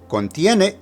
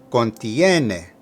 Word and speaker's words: contiene: Contiene is from the verb contener and means to contain. Here it's in the third person singular because it agrees with testamento. Now, be careful with the pronunciation. Contiene, contiene.